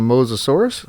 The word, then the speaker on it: Mosasaurus: is show you guys how to tame a mosasaurus as you can see that's how you pronounce it that's from the wiki right there